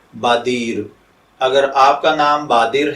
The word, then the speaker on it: بادیر: तो चलिए बढ़ते हैं अपने आज के टॉपिक बादीर की जानिब।